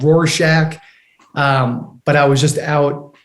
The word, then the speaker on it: Rorschach: Right now, I'm in a place called Rorschach, Switzerland, which I pronounced very wrong. It's called Rorschach.